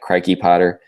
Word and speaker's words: Crikey Potter: There's my Twitter at Crikey Potter. Most people don't know how to pronounce it. It's Crikey, like the croc, Crikey Potter. At Crikey Potter.